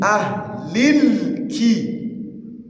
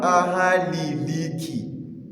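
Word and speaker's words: أهل الكتاب: Min ahlil ki. Ahlil ki, not ahaliliki. Please take note.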